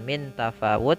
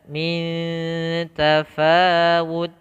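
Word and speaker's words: مِنْ تَفَاوُتٍ: yaitu kita samarkan langsung, kita bukan baca dengan min tafawut tapi disamarkan dengan dengung. Lebih mudahnya untuk awalan yaitu dengan eng gitu ya, minta, tapi pada dasarnya ikhfa-nya adalah kita samarkan ke huruf ta yang betulnya. Ya, minta, ya, minta, min tafawud.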